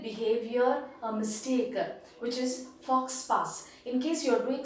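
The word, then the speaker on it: faux pas: and then fox park it is not for sparks it is fox power that is a pronunciation and it talks about a socially inappropriate behavior a mistake which is fox pass in case you are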